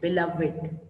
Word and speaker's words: beloved: Now, listen how I pronounce this word, beloved.